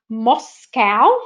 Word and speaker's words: MoSCoW: But when you think about Moscow, which is the way it's spelled and the way I'm pronouncing it, it actually relates to Agile, specifically to Agile.